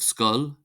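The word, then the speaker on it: scoil: We have skull, skull, meaning school. UI is pronounced as an I, so we have ishke, ishke, ishke, meaning water, and fwil, fwil, fwil, meaning blood.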